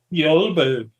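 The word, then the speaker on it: Bjälbo: rest is ruled by Magnus IV of the Bjalbo dynasty. Bjalbo. Bjalbo. Yolbo. Yes. That's it.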